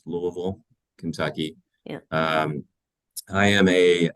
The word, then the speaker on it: Louisville: So I live in Louisville, pronounced Louisville, Kentucky.